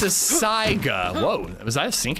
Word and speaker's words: Saiga: Is it really how you say and pronounce the shotgun? Well, it's a Saiga. Whoa, was that a sync attack? It's a Saiga is the real name of the gun.